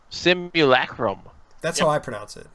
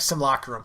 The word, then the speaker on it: simulacrum: wanted to point something out yes Webster's Webster's pronounces a simulacrum symbol a Chromebook that's how I pronounce it that's how I